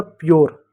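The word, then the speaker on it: pure: ठीक, जैसे पी यू आर ई, यू आर ई है, पहले वाला शब्द आधा होगा, आधा प। ठीक है, यू को क्या लिखेंगे? यो लिखेंगे, आर का रॉ लिखेंगे, ई साइलेंट होगा, हो गया प्योर।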